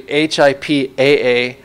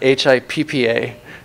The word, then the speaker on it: HIPAA: But if we train them, it's actually HIPAA, not HIPPA.